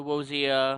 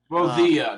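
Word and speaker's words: Rosita: To Wozia, uh, Rosilla, that's how you pronounce it.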